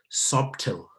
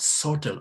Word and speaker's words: subtle: we go subtle and many people pronounce this word as subtil no please we talk about subtle or subtlety because there